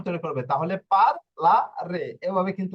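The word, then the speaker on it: parlare: যদি আমি আরো একটা উচ্চারণ দেখি, হ্যাঁ, এই যে দেখুন এখানে, আহ এই যে পার্লারের শব্দটা নিচ্ছি, ঠিক আছে, পার্লারের শব্দটা নিয়ে যদি উচ্চারণ করি, এই যে দেখুন, পি আ, পা,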